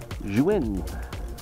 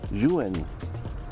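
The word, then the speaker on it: Zhiyun: It's called, well, it's spelled Z-H-I-Y-U-N, and it's actually pronounced Juin, Juin, or the smooth four.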